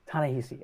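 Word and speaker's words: Ta-Nehisi: is what it is how do we say this guy's name again it's a tanahisi all right all right that's right let's rock and roll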